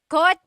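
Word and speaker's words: kotse: In the Tagalog alphabet, there is no letter C in Tagalog naturally occurring. The chcha- sound is a ts combination.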